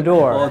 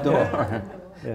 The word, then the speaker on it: Bodor: And I find myself with Chris Bodor. Is that pronounced properly? Like a bow on a door, yeah. Okay. Bodor. Bodor.